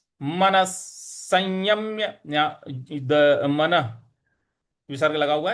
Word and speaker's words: संयम्य: मनस संयम्य यम, यहाँ पे यम जो है यहाँ पे हमें हल्का सा बल लगाना है। तो हो जाएगा मनस संयम्य मच्चित्तो। मन संयम्य मच्चित्तो, मन संयम्य मच्चित्तो, इस प्रकार से बोलेंगे।